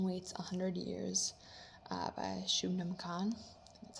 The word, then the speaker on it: Shubnum: um the Gin weights 100 years uh by Shaman that's how you say her name uh I